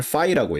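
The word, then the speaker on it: φ: phi z라고 할 때 o하고 i하고 겹쳐놓은 것처럼 생긴 저거를 phi라고 읽어요. 그리스 문자예요. 그래서 함수 fx 뭐 이런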